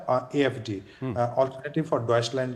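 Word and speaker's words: Deutschland: लेते थे, जिसका नाम है AfD, अल्टरनेटिव फॉर डॉइचलैंड, जो उसका जो रियल प्रोनाउंस ये है।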